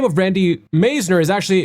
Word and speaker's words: Meisner: And the last name of Randy Meisner is actually it rhymes with wise, wiser with an N, so Meisner.